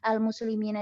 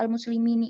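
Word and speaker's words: المسلمين: Nah, kenapa kok di situ dibacanya nggak al-muslimini? Ya karena kaidahnya seperti itu gitu. Nggak boleh dibaca al-muslimunu, nggak boleh. Nggak boleh dibaca al-muslimini, itu nggak boleh juga.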